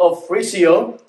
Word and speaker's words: Ofrecio: to asia brother of frisio uh many of my friends are having a hard time saying my last name but it is pronounced as offrisio and i came to